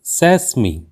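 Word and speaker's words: sesame: काफी इंट्रस्टिंग है और अक्सर हम इसका उच्चारण करते हैं कि ऐसा कहना बिलकुल गलत है क्योंकि इस शब्दों का सही उच्चारण होता है सेहमी सेहमी और इसका अर्थ होता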